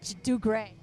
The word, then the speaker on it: Dugre: all the social medias with my name do gray or the do gray do you GRE it's a it's a family